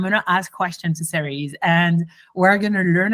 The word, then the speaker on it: Cerise: You pronounced it perfectly. Most people butcher it, so it's... Oh, cool. Cerise.